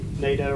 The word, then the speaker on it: NATO: NATO rhymes with Play-Doh, I remember that.